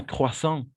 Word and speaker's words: croissant: Oui, ou excellente question, Yvonne, parce que la combinaison de voyelles O et I, on va toujours prononcer comme un OA, d'accord? Donc, croissant, et c'est un peu nasal, d'accord? Croissant, voilà. Avec la nasalisation.